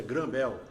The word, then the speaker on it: Graham Bell: cientista Alexander Graham Bell Graham Bell se pronuncia granvel né e em maio